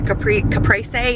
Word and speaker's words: caprese: I'm craving a caprese, like a caprese, is how you say it, caprese, or caprese salad with like the tomatoes and the mozzarella cheese.